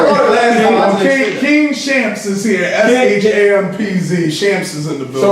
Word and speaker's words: Shampz: King Shampz. I know it's Shampz. It's pronounced like it's spelled. Listen.